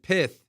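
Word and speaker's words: Pyth: amarle Amari Amari mentioned pith I you know some because I was I was you know messing up on the pronunciation they're like pretend like Michael Tyson is saying piss that's how you pronounce it so from then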